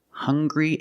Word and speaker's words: hungry: Also, we have these 2 words, hungry and hunger. They also make the same sound with the nasal sound and the hard g.